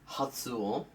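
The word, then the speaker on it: 発音: So let's just stick with the word padum, or in Japanese you have the identical word that is pronounced hatsuon and also means pronunciation, or if you add hada in Korean, to pronounce, or suru in Japanese, also to pronounce.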